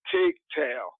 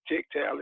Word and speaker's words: Tygtal: It's pronounced Tygtal. And what it stands for is take your game to another level. And we pronounce it Tygtal Exposure.